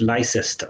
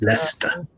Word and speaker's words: Leicester: leicester leicester even though people in america they pronounce this licensed because it's written like that but it's not vice ester it's leicester oh yeah leicester you know and we we